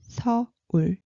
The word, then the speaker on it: 서울: But you remember 를 L sound, so we pronounce it 서울.